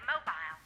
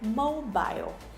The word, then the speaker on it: mobile: to my mobile profile so she said mobile okay mobile but americans say this word mobile mobile so you see there okay so the same word but different pronunciation mobile and mobile they're both correct okay they're both correct